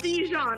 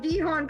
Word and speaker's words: Dijon: It's Dijon. I've been saying Dijon because my fucking Spanish brain Dijon. kicked in.